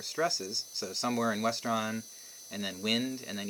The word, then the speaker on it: Westron: Western, I know how to pronounce. Restaurant, maybe it's Westron. I don't know. It's Westron.